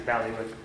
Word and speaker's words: bailiwick: I don't know where, it really doesn't fall under Kathy's bailiwick. Sorry, how do you pronounce it?